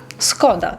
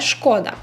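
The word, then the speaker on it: Škoda: вже більше про вимову Всі ми знаємо марку машини Skoda але по-польську тест Skoda не шкода слухайте історію купила собі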